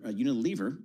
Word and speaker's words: Unilever: Unilever Unilver, that's the proper pronunciation.